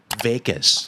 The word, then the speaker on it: vagus: that's very important oh it's actually called a Vegas nerve but it's spelled differently okay yeah I think